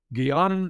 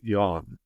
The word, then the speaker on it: jnana: Jnana is spelled either g h a n a or j a m a. The a is not pronounced in Sanskrit, so it's more correctly pronounced jnana or simply yana.